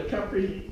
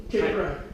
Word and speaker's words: Caipirinha: So this drink is called the Caipirinha. Caipirinha. If that's how they at least pronounced it when I was in Brazil, Caipirinha.